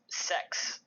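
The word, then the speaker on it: sechs: And then the 6, in German, it's pronounced as sex.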